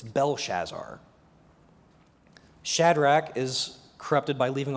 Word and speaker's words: Belshazzar: subtly disfigured throughout um beltachazar is not the proper spelling or pronunciation it's belshazzar shadrach is corrupted by